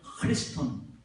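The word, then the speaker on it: Χριστόν: 원어민 발음으로는 이게 크가 아니라 흐가 되는 거예요. 크리스톤.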